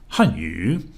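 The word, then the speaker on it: 汉语: In the example hanyu above, adding tones to the pinyin makes the first syllable a 4th tone and the second syllable a 3rd tone, as in hanyu.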